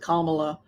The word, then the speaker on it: Kamala: I always pronounce it Kamala. Kamala. Like Camelot. Kamala. Not Kamala. I do Kamala.